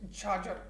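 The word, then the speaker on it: chachar: there is jhajar land is c-h-a-c-h-a-r but the pronunciation is charger means the land which was uh cultivated every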